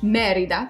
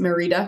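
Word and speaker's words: Mérida: is and in spanish merida so it has an accent on the e so you get an emphasis on the first syllable so people don't pronounce it merida because that's not correct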